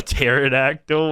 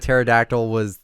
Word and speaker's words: pterodactyl: A pterodactyl was I was just going to mention that. He never knew that pterodactyl the P was silent.